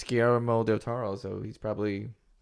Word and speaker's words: Guillermo: So, Guillermo, my God, I cannot say his name. We'll just call him Del Toro, so I don't. Guillermo.